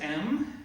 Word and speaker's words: Em: My name's Em. It's spelled like femme without the F. Sounds like gem without the J. Or femininomenon without the phenomenon.